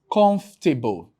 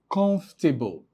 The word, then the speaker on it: comfortable: So schwa sounds are not usually articulated or produced.